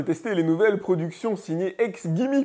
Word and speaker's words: XGIMI: les nouvelles productions signées ex Gimme puisque ça se prononce comme ça dans la version anglaise et j'avoue que ce